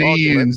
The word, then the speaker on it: Ghanaians: Ghanaians.